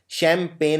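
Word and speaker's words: champagne: इसमें जी आता है और 90% लोग ये वाला जी नहीं लगाते हैं क्योंकि ये जी बोलने में नहीं आता है। ये साइलेंट होता है। शैंपेन में एक जी भी आता है।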